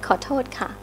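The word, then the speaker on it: ขอโทษค่ะ: Khotot ka. That's right. Khotot ka.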